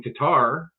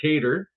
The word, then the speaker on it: Qatar: So any investment that he makes, and the deal was made in Qatar, or Qatar, whichever way you want to pronounce it, that their funds are coming here.